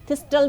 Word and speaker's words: thistle: इसको इंग्लिश में मैंने बताया कि इसको मिल्क थिसल कहते हैं, थिस्टल भी कहते हैं, ठीक और है। ची इसमें साइलेंट होता है।